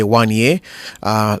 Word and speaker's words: Wanya: It's spelled Wanya. I heard Lance say Wanye. Lance is a scholar and a gentleman, but I'll go with Wanya.